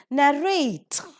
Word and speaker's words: narrate: so we have accordingly narrate giving the stress on the second syllable migrate debate locate pulsate